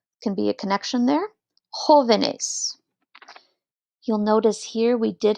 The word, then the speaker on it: jóvenes: Jóvenes. You'll notice here we did have to add in a written accent mark because we want to keep the stress on joven, on that J-O syllable.